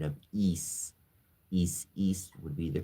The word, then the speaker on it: Isis: Also known as isis miscorre mis pronounced ISIS isis is a Greek word is has the pronunciation of is east would be the correct pronunciation or if you